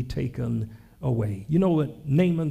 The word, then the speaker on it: Naaman: talks about a man named Naaman some pronounce his name nayama he was stricken with